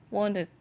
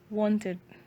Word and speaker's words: wanted: Nah, yang ini want-nya regular verb, jadi hanya ditambahkan ed, jadi bacanya wanted. A-nya itu agak panjang, jadi wanted.